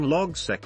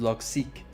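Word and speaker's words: Logseq: to the creator and it's pronounced log seek so just in case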